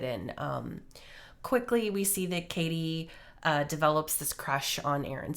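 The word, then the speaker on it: Cady: and her name is Katie Heron, but a lot of people mispronounce it as Caddy because it's spelled C-A-D-Y.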